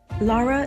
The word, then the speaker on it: Lara: Now, I am pronouncing your name correctly, right? It's Lara or is it Lara? No. Yeah, Lara works.